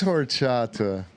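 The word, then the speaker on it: horchata: end it is such a Mexican it is horata yeah and I love horata the least Mexican yes s tier for sure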